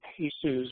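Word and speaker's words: PEHSU: unit is and how pesus which is how you pronounce PSU um might be able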